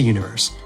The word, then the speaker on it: univer.se: Head to Universe. That's univer.se, but the dot is silent.